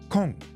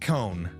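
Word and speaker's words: 紺: Kong. It's book. This means dark blue. Kong. Kong. Kong. It's not cone.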